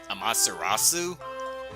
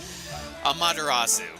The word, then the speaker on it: Amaterasu: monster on sue is Hamas irazu I mispronounced the name of a Shinto God now I hope I'm not upsetting any Japanese viewers and come across this video Amaterasu apparently they recognize Amaterasu